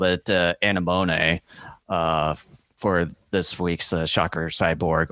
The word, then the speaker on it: anemone: It's pronounced anemone. That's how you say it.